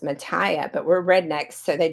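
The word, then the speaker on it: Mathia: she loved her name her name was spelled like mine m a t h i a and pronounced Matia so my name is actually supposed to be pronounced Matia but we're rednecks so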